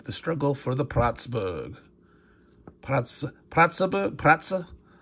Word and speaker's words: Pratzen: Pratzen. Gonna pronounce that E, being Austrian, German.